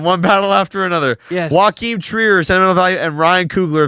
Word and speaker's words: Joachim Trier: Joaquin Trier, Sentimental Value, and Ryan Coogler of Sinners. Yes, and great job pronouncing Joachim Trier's name.